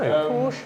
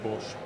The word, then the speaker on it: Porsche: tended to say por Porche I'd say Porsche yeah um you say Porche I say Porsche why say why say more syllables than required cuz otherwise pora in